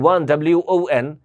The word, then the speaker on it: won: The match, এই যে ওয়ান WON, এই ওয়ানটাকে আমরা ওন বলি অনেক সময়, WON এটাকে আমরা কি বলি, ওন বলি না, এটার উচ্চারণ হলো ওয়ান, ওকে।